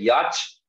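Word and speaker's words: याच्ञा: गया याच प्लस ञा, याज्ञा, याचना, यांचा, हाँ ऐसे उच्चारण किया जाता है इसका। ये देखिए याच प्लस ना जो है ना, ऐसा बन गया, तो ये बन गया यांचा, यांच्या, यांचना ऐसे बोला जाता है, यांचा बोलते हैं हम लोग, इन जनरल बोलते हैं कि नहीं।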